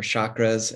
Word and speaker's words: chakra: It includes chakras, different chakra systems, or chakras, as it's sometimes pronounced.